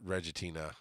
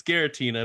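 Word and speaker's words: Giratina: then take a five is Reggie Tina they spell it wrong here it's it's Gera Tina but yeah I thought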